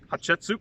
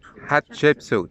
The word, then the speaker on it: Hatshepsut: Hatshepsut. Hatshepsut. Sounds like hot chicken soup.